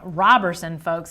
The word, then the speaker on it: Roberson: Roberson, folks, instead of Roberson. Robertson without the T.